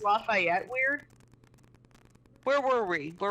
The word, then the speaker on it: Lafayette: i thought it was they pronounced it like lafitti it was something atrocious like we we didn't get it until we saw it written out yeah and we're like oh lafayette that's how you're supposed to be lafitti it